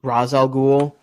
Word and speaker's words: Ra's al Ghul: saying that racial goals brought supposed to be pronounced Ra's al Ghul it's you know like they pronounce it race